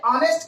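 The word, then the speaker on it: honest: देखिए ऑनेस्ट के लिए तो नहीं लगेगा, लेकिन यहीं पर हमने लगा दिया मैन। अब देखिए ऑनेस्ट है, यच पहले लगा हुआ, लेकिन हम यच को साइलेंट रखते हैं, इसलिए इसके साथ भी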